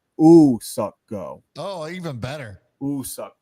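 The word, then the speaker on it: Woo-suk Go: Official pronunciation is not Woo Suck Go. It's Ooh Suck Go.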